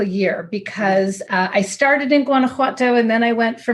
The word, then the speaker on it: Guanajuato: I said it right I'll give you my pronunciation and it may or may not be completely accurate Guanajuato Guanajuato okay cool thank you and that is where